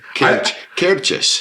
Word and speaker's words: Cairdeas: now and be like how did I pronounce that ctis not not like a tardis cus cus cus which makes no sense